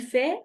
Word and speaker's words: fait: Ici, nous avons T, mais ça ne se prononce pas. Ajá. Aunque tenemos una T ahí, esa no se pronuncia. Entonces, va a ser prácticamente lo mismo. Il fait, elle fait.